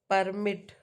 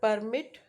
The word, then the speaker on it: permit: The word permit stress on the second syllable.